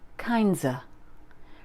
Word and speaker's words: kinds of: If we add an S to this, it sounds like kindsa.